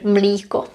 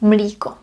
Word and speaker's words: mlíko: In this word we have o, mléko, milk, mléko, or the colloquial version, mlíko. But that's spelled differently, that's spelled with I, mlíko.